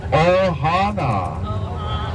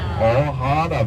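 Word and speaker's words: ʻohana: family a s test everyone repeat after me then Ohana Ohana Ohana very important Ohana how about the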